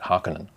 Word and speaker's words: Harkonnen: Now, the Atreides version of the ornithopter is quite similar to the Harkonnen version, or some people pronounce that Harkonnen.